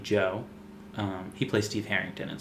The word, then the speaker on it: Djo: music under the name Joe. He plays Steve Harrington in Stranger Things. Oh, I Um, like that guy. he makes music under the name Joe, DJO. The D is silent.